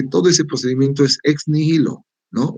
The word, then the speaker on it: nihilo: Nihil, o sea, la H no, es muda, ¿ya? Pero nos sirve para darle un poquito más darle una acentuación a la I, ¿no? Es más larga la I, ¿no?